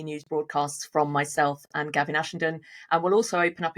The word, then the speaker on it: Gavin Ashenden: I'm Gawain Ashenden, and my preferred pronunciation is Gavin Ashenden.